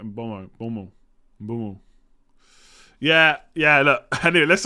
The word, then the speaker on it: Mboma: It's a silent M. They do this in Africa. It's more like Bomo.